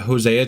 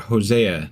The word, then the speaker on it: Hosea: So, I That was uh Hosea chapter 1. God damn it, I almost said his name wrong again.